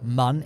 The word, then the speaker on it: Mun: surface of the moon or mun in this case because it is pronounced man guys there's no umlaut do not at me